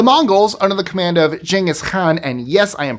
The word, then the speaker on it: Genghis Khan: The Mongols, under the command of Genghis Khan, and yes, I am pronouncing it that way, he was Mongolian, so he would not have called himself Genghis Khan.